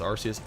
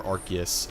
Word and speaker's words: Arceus: Or Arceus, however people like to pronounce it. I've always said Arceus.